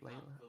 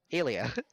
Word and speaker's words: Elia: Alia. Alia. Alia. Alia. It's just the letter A and then Lia, Leah. It's not that hard.